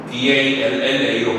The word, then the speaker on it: 달라: 무조건 DALLA로 발음해야 되잖아. 왜? 우리가 모음 사이에 리을이 두 개가 오면 LL로 발음되거든. 단독으로 오면은 얘는 이제 어떻게 발음해?